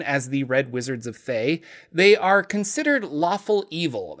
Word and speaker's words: Thay: hello everybody Jordan here the pH is silent to start let's re-familiarize ourselves with the red wizards of Fae because my first red